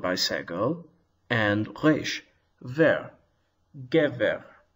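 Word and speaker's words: גבר: segel, and resh, ver, gever. And notice that the accent is on the first syllable, and I've marked it with an accent mark.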